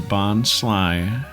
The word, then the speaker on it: Bonsly: It's like a bonsai, and he's sly because he's mimicking a bonsai. But it is written like Bonsley. Like, phonetically, I suppose it's correct, but it's not the pun that they're going for.